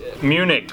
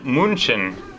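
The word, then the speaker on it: München: Germany as well third on the list is Munich or as they pronounce it here in German Munchen Munchen is the capital of Bavaria which is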